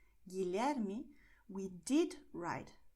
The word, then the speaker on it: Guilherme: And in GUE, GUI, the letter U is silent, so it's going to be written but not pronounced.